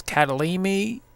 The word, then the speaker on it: Kyalami: we are at the I believe how you pronounce it is catalin me Speedway our Road course